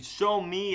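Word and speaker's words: Xiaomi: about a show you show me I think that's how you say it does not look like the word which is X I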